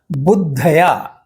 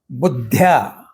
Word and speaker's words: बुद्ध्या: बुद्धया, बुद्ध्या, यह उच्चारण बुद्ध्या है। कुछ लोग इसका उच्चारण बुद्धया करते हैं, जो गलत है, क्योंकि बुद्ध्या यह बुद्धि का पंचमी विभक्ति का रूप है, तो इसलिए उसका उच्चारण, शुद्ध उच्चारण बुद्ध्या है, बुद्धया नहीं।